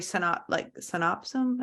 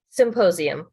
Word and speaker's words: symposium: I saw you did this military synopsum. Am I saying it correctly? Symposium.